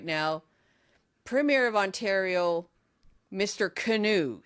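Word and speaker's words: Kinew: But I heard canoe, but it's pronounced canoe, but it's K I N E W.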